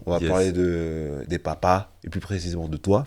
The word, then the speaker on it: Poppa: Bonjour à tous et bienvenue au 3è épisode de Papa. Comme je vous l'ai déjà dit, ça se dit Papa et non Papa.